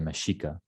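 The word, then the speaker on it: Mexica: spanish and medieval spanish it actually had an sh sound which is why for example if you look at mexico um older writings usually spell mexico or also in mexico as well they still spell it with an x because that's the land of the meshika same thing with texas because that was the land of the tesha so that's why an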